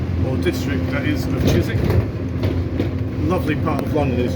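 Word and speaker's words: Chiswick: towards the direction of chisik and to all our American friends it's pronounced chisi and not chis wi we're heading along the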